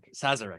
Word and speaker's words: Sazerac: okay I'm gonna have a really bad time pronounce this says Sazerac Sazerac thank you George Magnus Incorporated are being sued